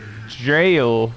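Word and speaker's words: gaol: Roth is because well they say jail with a g a o l so that could be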